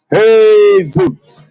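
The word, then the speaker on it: Jesús: Ain't that how you say Jesus in Spanish? Huh? Nobody can speak Spanish now, huh? Huh? Nobody can speak Spanish. Okay, that's how you say it in Spanish.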